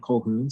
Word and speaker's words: Colquhoun: hello everybody okay so my name is colgoon so that's how you pronounce that that last name full of consonants i'm also a design